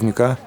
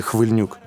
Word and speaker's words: Khlyvniuk: I still remember I called Khlyvniuk the wrong name: "Hvylniuk."